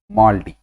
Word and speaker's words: MALDI: Colloquially it is pronounced as MALDI.